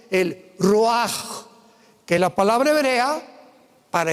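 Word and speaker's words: רוח: Y exhaló Isaac el roach. Apúntalo como suena. R u a c h. El roaj, que la palabra hebrea para espíritu.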